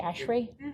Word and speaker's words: ASHRAE: Whereas, am I pronouncing it correctly, ASHRAE?